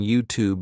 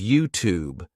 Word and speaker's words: YouTube: realized it's actually YouTube so the thing is in American English in words like student YouTube Duty new you would just say the sound oo instead of saying you so instead of saying